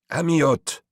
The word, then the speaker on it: Amyot: The unintelligible word was spoken in a liquid foreign voice, not, however, as the French would pronounce it, but closing with a sharp T, sharp as if plucked on a lute string.